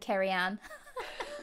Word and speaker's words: Cerian: slogan keep calm and carry on i love it which is my name in case anyone's seen carrianne written down and just like doesn't realize that's how it's pronounced because it's welsh um so i got